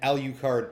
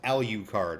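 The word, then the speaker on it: Alucard: gonna call her psycho from now on and al you card tempest and yes it is pronounced al you card unless you call Dracula Dracula like an Aqua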